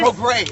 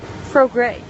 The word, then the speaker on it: Prograis: Prograis is how it's pronounced. Prograis.